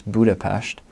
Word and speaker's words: Budapest: cities outside of Budapest which is actually pronounce pronounce Budapest the three cities that I would highly recommend